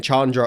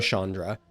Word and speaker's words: Chandra: folks you've I've noticed many USA players pronounce Chandra with an a sh as in shotgun instead of CHA like in charge yeah do you know